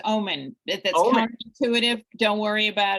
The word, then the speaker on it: Oomen: I'm saying this right umen is that correct it's actually pronounced like the word it's pronounced Omen that's intuitive don't worry